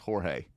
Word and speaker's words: Jorge: And every time Owen sees him on TV, he goes, "It's George. Why does everyone say Jorge?" He cannot translate why it's pronounced Jorge when it's spelled George.